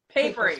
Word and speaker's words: Paperie: I always say it wrong, but. Paperie. Okay. Yeah. Paperie. Like Paperie with a Y.